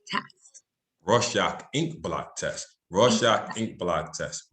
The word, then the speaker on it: Rorschach: rorschach inc block test rush inc block test raw shock ink block test raw shock ink block test try doing that three times